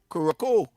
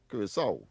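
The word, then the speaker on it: Curaçao: I realized, of course, that the C has an accent, and of course it is pronounced with a S song, Curacao.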